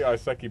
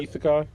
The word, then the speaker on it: Isekai: always pronounce it wrong. I say Iseki, but it's what? Isekai.